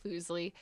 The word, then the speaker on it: Fuslie: profusely yeah it's but it's how everyone mispronounces it so i'm not going to be like actually it's foosley so yeah don't don't be